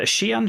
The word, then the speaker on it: Xi'an: way for those uh is it a Xi'an ship I can't remember the yeah it's xion you got the Xeon purists